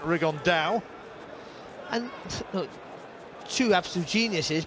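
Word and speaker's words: Rigondeaux: rig on though or as he's correctly pronounced with the spanish accent rig on dao and look two absolute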